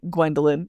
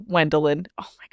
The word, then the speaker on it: Wendlyn: need to but that would be so irritating to me to hear it pronounced like slightly wrong like Gwendolyn instead of Wendlyn.